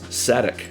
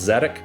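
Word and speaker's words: Szadek: I believe it's Sadek. I believe that's how you pronounce it. Some people say it like there's no S, like it's Zadok, but I think it's Sadek.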